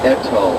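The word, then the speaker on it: Ettal: The view of Etal, and it's spelled E-T-T-A-L.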